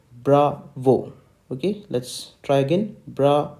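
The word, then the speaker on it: Bravo: I'm unlining this so how do we speak the word b we speak the letter B like bra vo okay let's try again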